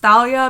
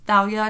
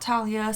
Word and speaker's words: Thalia: how it is pronounced Thalia because the name if you spell it in Greek it starts with a Theta and the Theta makes the sound so it is Thalia not Talia so uh that Tik